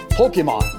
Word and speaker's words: Pokémon: If you pronounce pocket monster like a Japanese speaker would, it becomes Poketo Monster. Keep the poke and the mon and get rid of the other letters and you get Pokemon.